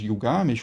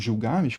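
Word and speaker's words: Gilgamesh: aqui, né, a epopé de Gil Games ou Gil Games, como queira pronunciar, a gente tem um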